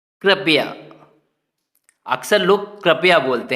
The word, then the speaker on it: कृपया: क्यों कृपया बोलना है, क्योंकि जो जो नीचे सी लगा हुआ है छोटा सा, ये री की मात्रा होती है, तो इसीलिए हमें री का उच्चारण करना है।